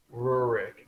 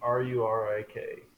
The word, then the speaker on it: Rurik: But I'm glad to see that you really gave Did you say his name was Rick Iron Fist? Rurik, Rurik.